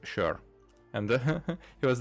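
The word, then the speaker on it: sör: the o and but but it's pronounced sure and he was like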